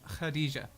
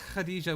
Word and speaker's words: Khadija: The correct pronunciation, as I understand it, is Khadija. As Khadija walks towards you, that's not quite right either, but it's getting close.